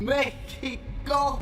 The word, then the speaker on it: México: México, México, México, México, México. ¿Por qué México se escribe con X pero se pronuncia con J?